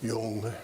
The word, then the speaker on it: Jung: Uh, they could quote from William James and Sigman Freud and Carl Jung and Yung. You see how you get yung? That's the expert pronunciation.